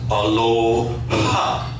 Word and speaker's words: aloha: actually it does because the word in Hawaiian is pronounced Aloha and it's expelling your breath because to the Hawaiians